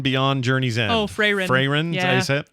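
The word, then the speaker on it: Frieren: I'm now watching Firion Beyond Journey's End. Oh, Freyrin.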